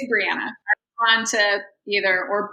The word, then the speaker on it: Breanna: It's Breanna. I'm on to either or Bree.